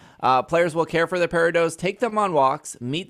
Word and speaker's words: Peridot: I've looked up say it's pronounced Peridot, which I just think sounds awful.